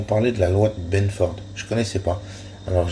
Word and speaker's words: Benford: Et à un moment donné, ils ont parlé de la loi de Benford. Je ne connaissais pas. Alors, je vais l'épeler. La loi, comme ça se prononce, hein, la loi de Benford.